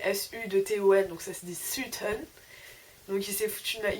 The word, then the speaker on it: Sutton: dit que j'allais à Sutton, alors que ça s'écrit S-U-T-O-N, donc ça se dit Sutton.